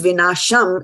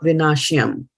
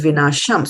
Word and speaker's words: vināśam: And it is vināśam and not vināśyam. It is vināśam.